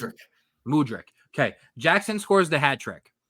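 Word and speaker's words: Mudryk: how Mur murck how do how's his name pronounced mudri mudri okay Jackson scores the hatrick he's two-on-one clearly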